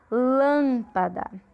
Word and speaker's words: lâmpada: Lâmpada, o lã é a sílaba tônica. Como ela é antepenúltima, ela é proparoxítona.